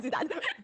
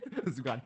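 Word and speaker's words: 朱丹: So they're getting her name wrong, okay, because her name is Zudan. Zugan.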